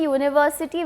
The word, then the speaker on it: university: see what it reads we say university with a y sound at the beginning as though it was